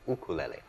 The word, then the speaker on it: ukulele: Um, actually the the proper Hawaiian pronunciation of it is ukulele.